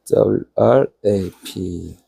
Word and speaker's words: wrap: 근데 W 발음이 약간 우에 이런 게 들어가거든요. 어쩌면 우랩 비슷하게 하면 돼.